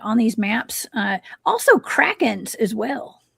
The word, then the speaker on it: Kraken: Now, the Kraken is a legendary cephalopod. That's how you pronounce that.